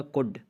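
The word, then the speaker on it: could: इसी तरह कुड, सिक्का, इसमें भी आप देख सकते हैं कि डी से पहले एल है और जहाँ पे डी से पहले एल हो तो वो साइलेंट हो जाता है।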